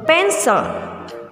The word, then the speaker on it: pencil: Kita bacanya bukan pensil ya, nak, tapi kita bacanya a pencil.